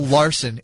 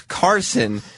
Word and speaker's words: Karson: Not great, because his name's Karson.